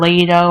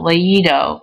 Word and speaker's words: leído: This is to maintain pronunciation. We don't want it to say trido or leido or oído. We want traído, leído, oído. So we do have an accent on the I.